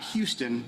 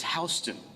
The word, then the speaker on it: Houston: is another fun one it's not Houston in Georgia it's houseon HST County 196 um